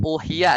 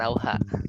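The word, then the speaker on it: أوحي: Kul uhiya ya, bukan auha.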